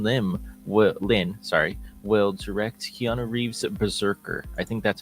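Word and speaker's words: BRZRKR: Justin Lin will direct Keanu Reeves' Berserker. I think that's how you say it. That's how you pronounce it.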